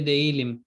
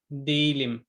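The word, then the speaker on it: değilim: अच्छा ये असल में तो actually a word letter to letter चलें तो ये देइलिम देइलिम होना चाहिए, लेकिन जो प्योर टर्किश प्रोनाउंसिएशन है उसमें ये ज़्यादा दील के पास चला जाता है, दीलिम।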